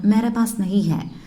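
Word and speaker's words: मेरे पास नहीं है: என்கிட்ட அப்படின்னா மேரே பாஸ் நஹி ஹை, மேரா பாஸ், மேரே பாஸ், மேரே பாஸ் நஹி ஹை, என்கிட்ட இல்லை, மேரே பாஸ் நஹி ஹை அப்படி தான் ப்ரொனவுன்ஸ் பண்ணணும்.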